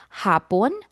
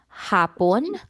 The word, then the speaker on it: hapon: Hapon. Hapon. Hapon. Okay. Now I want to emphasize the pronunciation for hapon. So for the first syllable ha you stretch the a hapon.